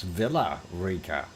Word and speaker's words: Villa Rica: via via VIA um our Double L is like a y the uh as far